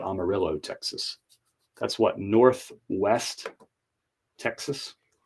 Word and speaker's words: Amarillo: from Asheville North Carolina to Amarillo Texas which should be pronounced Amaro Texas I'm just saying but they call it Amarillo Texas that's what Northwest